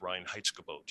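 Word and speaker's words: Reinheitsgebot: uh you know i i believe it's pronounced ryan heitzke boat you know the german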